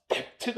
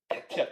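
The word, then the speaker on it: debt: 이거 발음이 얘들아 댑트가 아니야. 데트가 아니야. 어 데트야. 데트 B가 무음이야.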